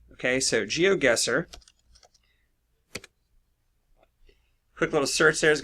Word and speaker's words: GeoGuessr: The name of the game is called Geo, as in geography, and Guessr. It's spelled G-U-E-S-S-R without the E. Okay, so GeoGuessr.